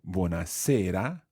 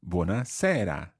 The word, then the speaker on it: buona sera: to or commenced I you can see buona sera or buona sera where there's a slightly different sound in the e francesca how would you